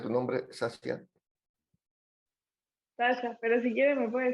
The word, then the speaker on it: Sasia: ¿Cómo se pronuncia tu nombre, Sasia? Sasha, pero si quiere me puede decir Nicole.